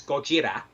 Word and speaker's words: Gojira: that the origin of so Godzilla of course in Japanese it's gojira and Gojira is a portmanteau of gorilla and ku jeera so a gorilla and a whale make Gojira and so he'd always